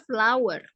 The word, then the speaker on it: flour: Oh, Bukan. Bacanya flower. flower is not bunga. Ya, cara bacanya sama dengan bunga ya.